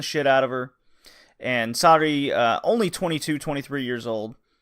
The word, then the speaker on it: Sari: I've been pronouncing it Sarie. I was thankfully corrected via a fan. It's just Sari.